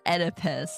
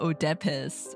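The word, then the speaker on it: Oedipus: always been reading it edus guys it's edus no Odus or whatever the hell I said Ed edus and pism edus yeah okay got it Ed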